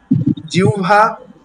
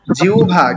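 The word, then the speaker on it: জিহ্বা: জিউভা এটার উচ্চারণটা কিন্তু জিউভা। কিউভা ভাই? আচ্ছা নিয়মটা আমি বলি। জিউভা কিভাবে হলো? যেখানে দেখবেন হ সংযুক্ত ব। কি বললাম? হ। সংযুক্ত ব। যেখানেই পাবেন সেই হচ্ছে ও।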